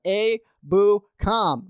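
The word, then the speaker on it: Ebukam: get that name right it's samson abu khan just say his name right a boo com very simple name um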